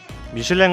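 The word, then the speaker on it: Michelin: 철자는 같은데 왜 대부분 다르게 부를까요? 미슐랭 가이드는 타이어보다 먼저 1980년대에 한국에 소개되었습니다. 그 이후 1988년 미쉐린 타이어가 한국에 진출하게 되는데 미슐랭 대신 한국인이 더 접하기 쉬운 발음인 미쉐린으로 진출하게 됩니다.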